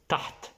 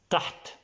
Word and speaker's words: تحت: Okay, this is a little bit difficult because it has the letter ha. The second letter is ha. Then it's a little bit difficult to pronounce if you're not Arabic. Taht, taht means under, under.